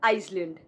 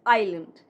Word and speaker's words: island: This is not Iceland. This is not Iceland. S is silent. It's island. It's island.